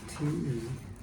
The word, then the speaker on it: te: And that's shown that word is spelled T E. Okay. And that is te. It's the exact same word that's used for tea as in the tea we drink.